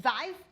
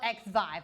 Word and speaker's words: Xvive: I don't know how to pronounce it. Zive? Zviv? Let me Google it. How do you say Zviv? Yeah. That's these. Learn more. Xvive. It's called Xvive.